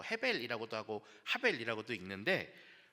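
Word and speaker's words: הבל: 여기서 지금 원어로만 써놨는데 적에다 아벨이에요. 하벨이라고 읽는 단어입니다.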